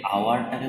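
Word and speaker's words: hour: আওয়ারের এইচটা কিন্তু হাওয়ার হয়ে যাচ্ছে না, এখানে এইচের উচ্চারণটা হচ্ছেই না, এইচের উচ্চারণটা চেঞ্জ হয়ে গিয়ে আয়ের মতো হচ্ছে, তাই জন্য অ্যান বসালাম।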